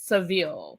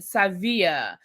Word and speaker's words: Sevilla: The ladies are going on their cash trip to Savia as Alexia wanted to remind us that you know Americans pronounce it Seville but it's really Sevilla because she lived in uh Spain for five years.